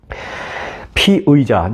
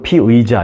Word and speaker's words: 피의자: 가중이 붙은 겁니다 피의자 항상 여러분들 뉴스를 들으실 때 한국말로 뉴스를 들으시면 피해자 또는 피의자 이게 얼핏 들으면 비슷한 발음이니까 잘못 이해하기 쉬운데 피해자 이번 사건에서의 피해자는